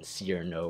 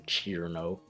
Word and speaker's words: Cirno: then interpreting the I as an er sound due to the adjacent R instead of extending it to get E, like in Cirno or Chir-no.